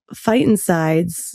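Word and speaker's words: phytoncides: And so when I was reading your book about fightsides, am I pronouncing that right?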